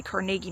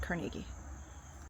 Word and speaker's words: Carnegie: Teaching, the Dunford Trust, Carnegie Melon University. I know you do. You don't say CargI Melon. It's Carnegie Melon. It's very confusing. Um, I think it's more like Carnegie has become the American pronunciation.